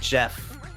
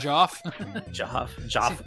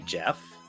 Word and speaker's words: Geoff: not positive yeah well he also spells it g-e-o-f-f which I always pronounce Jeff but I'm not sure if that's correct is it Geoff no it's Jeff I'm pretty sure it's not Joff well I don't know